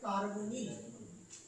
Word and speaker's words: কার্বনিল: এর নাম কি, কার্বনিল, উচ্চারণটা হবে কার্বনিল, কার্বনিল।